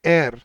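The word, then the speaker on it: heir: लेकिन इसकी actual pronunciation होती है एयर। इसमें एच साइलेंट होता है।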